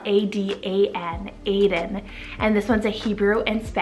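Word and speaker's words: Adan: Then we have Aiden, spelled A-D-A-N, Aiden.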